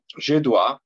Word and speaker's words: dois: Je dois, de nuevo tenemos la OI, que es OA, la S no se pronuncia. Por lo general, las últimas letras en francés no se pronuncian.